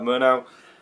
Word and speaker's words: Murnau: Murnau, always got that name wrong, but yeah, Murnau, this was his last